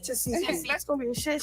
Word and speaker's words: Tesehki: I couldn't pronounce her name either. It's Tasiki.